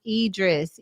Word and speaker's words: Idris: star says kudos to her uh ruthie says pronounce idris idris idris oh i see idris okay thank